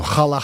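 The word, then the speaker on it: challah: Do you say hala bread? Well, I mean in I go halal hala. Oh my god.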